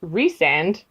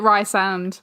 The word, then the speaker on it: Rhysand: But then R-H-Y-S by itself would be Rhys. So then his name is Rhysand. Yeah. But to me, it still looks like Rysand. Yeah. See what I mean? I always pronounce it Rysand, but I always pronounce it Fairy. Oh, yeah. I think I nailed, Feyre, at the beginning. I was like, okay, I got that. But then every time it came to Rysand, I was like, it's Rysand and Rhys.